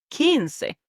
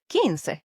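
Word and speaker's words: quince: tested and then we have 15 which is kins q u i n c e kins yes and this one is super important kins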